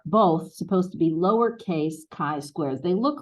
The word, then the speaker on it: chi-square: So the best way to, people often call it chi-square, but it is, how would I do this phonetically? K-Y, chi-square, okay?